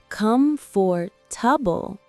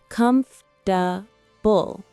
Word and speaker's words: comfortable: Also, the word comfortable, we don't say all syllables. It's not comfortable, but comfortable.